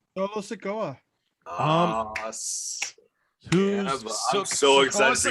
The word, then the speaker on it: Solo Sikoa: The debut, is it Solo Sikoa? Is that correct? Yeah, you got it. Solo Sikoa.